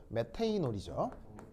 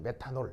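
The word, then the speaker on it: methanol: 얘 이름은 또 메테이놀이죠. 그래서 이제 메테인올 알겠죠? 메테인올 그래서 메테이놀인데 우리는 이제 콩글리시 발음으로 이제 메탄올 이렇게 하는 거죠.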